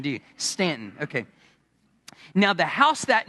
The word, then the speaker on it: Staunton: It looks like Stanton, but you don't say Stanton, do you? Staunton.